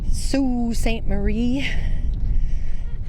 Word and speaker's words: Sault Ste. Marie: in Sue St Marie now that I know the proper pronunciation Sue St Marie it's the largest Great